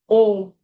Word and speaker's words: Om: In Om, actually it's A-U-M. Om. Om. It's A-U-M generally. But this is also right. Om Tat Sat. For most of the activities, whatever does, if they said Om Tat Sat, that is like Krishnarpanamastu.